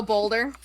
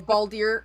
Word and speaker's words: Baldur: i feel nothing oh bolder or baldier or balder i can never say his name balder well they're all there's